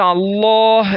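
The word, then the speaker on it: الله: മക്കളെ, നമുക്ക് അല്ലാഹ് എന്ന് പറയുമ്പോൾ അവസാനം ഒരു ഹ്, സുക്കൂനുള്ള ഹ് ഉച്ചാരണം വരുന്നില്ലേ?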